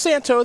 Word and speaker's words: Santohir: Daniel Santo. It is pronounced Santo. The H, the I, and the R apparently are silent, is what Daniel has told us.